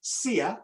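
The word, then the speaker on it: Siya: name his name is his first name is sia that's spelled s-i-y-a and his surname is kuza in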